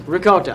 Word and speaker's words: ricotta: Ricotta cheese and, not goat cheese, ricotta. I'm Italian. I say it like that.